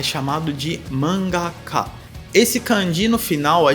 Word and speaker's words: mangá: Quanto à pronúncia da palavra, repare que o correto é manga e não mangá. Manga e não mangá.